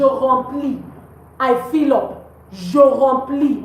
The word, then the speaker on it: remplis: Je remplis. We don't pronounce the S.